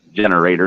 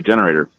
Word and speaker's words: generator: Listen to me, generator. It's supposed to be generator. There was a difference. Just a wee bit. You only put the emphasis on the wrong syllable.